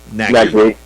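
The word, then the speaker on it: Nagbe: boy from America, from Nagabe. Is it Nagabe? Is that how you pronounce it? Nagby. Yeah.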